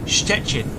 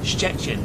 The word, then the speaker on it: Szczecin: It's so it's sh and then chet in. There you go. Szczecin. Szczecin.